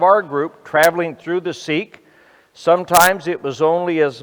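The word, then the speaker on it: Siq: called a si Q which is pronounced seek like we would say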